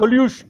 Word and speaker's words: collusion: collusion.